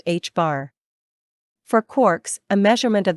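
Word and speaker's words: ħ: measured in units of the reduced Planck constant H pronounced h-bar for quarks a measurement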